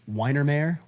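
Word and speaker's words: Weihenmayer: I believe his last name is pronounced Weinermeyer, Weinermeyer.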